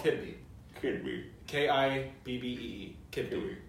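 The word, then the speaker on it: kibbeh: Kibbee. Kidney. It's the best way phonetically.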